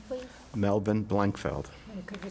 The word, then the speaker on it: Blankfeld: I'm here to interview Melvin Blankfield. Feld. My name is Barbara Beyer. We're in West Palm Beach, Florida, WPEC Studios. Please tell me your name, please. Melvin Blankfeld.